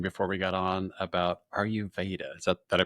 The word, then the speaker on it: Ayurveda: And then you were talking before we got on about Ayurveda. Is that, did I pronounce Yeah, it correctly?